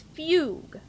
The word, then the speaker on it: fugue: thought it was pronounced Fugue fug okay so the second U is silent see I wasn't sure so it's Fugue I guess I kind